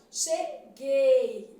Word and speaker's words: cheguei: eu vou para cheguei esse U não é pronunciado cheguei não é Gui né cheguei então aqui